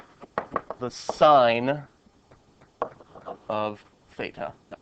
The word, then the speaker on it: sine: This is pronounced the sign of theta. Okay. You would pronounce it like you pronounce a stop sign.